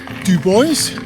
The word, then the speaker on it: Dubois: So Dubois is pronounced Dubois, and Togwotee pass that I just went over is pronounced Togwotee.